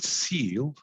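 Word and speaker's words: CEAL: We call it SEAL, spelled with a C, and specifically designed to work with communities in the fight against COVID-19 disparities.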